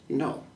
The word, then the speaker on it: Naud: My official sign name was Naud, because my last name is French and the D is silent, the A in the U, it's like O, so it looks like no.